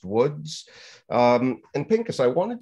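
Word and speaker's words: Łódź: also in the city it looks like loads but it's pronounced Woods um and Pinkus I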